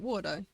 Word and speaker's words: Warudo: I am saying it right, Wardo. Disorderly Avon said Ooki. Yeah, the reason why I had my text-to-speech spell that out is because I just wanted to know how it's actually pronounced.